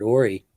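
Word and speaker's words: Horry: So, hey, and breaking news: are you related to Robert Ory? LOL. Yeah, that's crazy, my cousin. RJ, that's crazy. So I pronounced it correctly. Then it is Ory.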